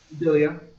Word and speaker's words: Dalia: am I pronouncing um is it Dalia or um how do how do we pronounce your name dilia dilia you got it okay I just wanted